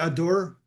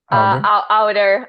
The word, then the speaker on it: Auder: Okay, so what the film am I saying it right? Adore? Outer. Outer. You should, What is that?